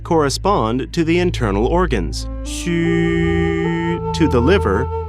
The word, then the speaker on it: 虚: In pinyin, or the standard pronunciation of Chinese phonetic alphabet, the letter X is pronounced as sh in the English word she. U is pronounced as wu in the word wood, but ending with a prolonged I, as in it.